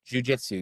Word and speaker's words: jiu-jitsu: Jiu-jitsu, is that how you say it? You fucking fly. Jujitsu, yes.